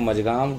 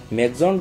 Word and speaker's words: Mazagon: अब आप अगर हिंदी में बोलना चाहते हैं प्रोनाउंसिएशन तो उसको मजगाम डॉक लिमिटेड बोल सकते हैं, और अगर इंग्लिश के एसेंट में बोलना चाहते हैं तो मजगाम डॉक शिपयार्ड्स बोल सकते हैं।